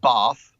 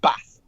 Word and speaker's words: Bath: or is it well in the South we would call it bath in the north you would call it bath Beth okay that's what